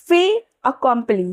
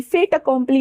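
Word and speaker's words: fait accompli: Next is फे अकंपली। फे अकंपली। फेट अकम्प्ली नहीं यहां पे टी साइलेंट होगा।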